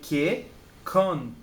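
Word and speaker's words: けっこん: Não, você não vai ler ke, tsu, kon. Não. Você vai ler ke, kon. Mesmo que seja tsu, isso daqui, nesse momento ele significa a duplicação, né, da primeira letra da próxima sílaba. Então é outro K. Então é kekon, que ele serve para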